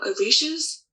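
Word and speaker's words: orisa: They are orishas.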